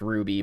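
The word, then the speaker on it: RWBY: And I know it's pronounced Ruby, but like you.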